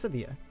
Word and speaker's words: Sevilla: Is it Sevilla or is it Seville? S-E-V-I-L-L-E. Sevilla. Sevilla. Yeah, it's Sevilla. Alright.